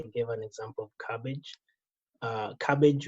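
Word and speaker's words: Kabbage: Cabbage, which is spelled with a K, K-A-B-B-A-G-E.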